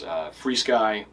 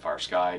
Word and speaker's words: FrSky: FreeSky, ACCST. It might even now have Access, which is the newest FreeSky protocol, or FrSky, depending on how you say it.